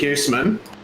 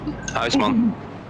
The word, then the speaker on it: Huisman: So we pronounce it Huisman. Yeah. But you would know it's completely different in Dutch. Huisman.